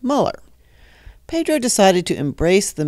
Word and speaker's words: Muller: some folks tend to mispronounce his last name as Mueller instead of Muller.